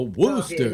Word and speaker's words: Worcester: He's in Massachusetts, in Worcester, which is how's Worcester spelled now? Worcester. Okay, the Worcester. Worcester. That's like it's like Elmer Fudd talking about a male chicken. A Worcester.